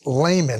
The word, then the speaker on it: Lehmann: Hans Lehmann, I'm hoping I'm pronouncing that No, you got it right.